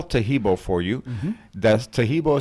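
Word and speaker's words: Taheebo: That's Tahibo is spelled T-A-H-E-E-B like boy, O.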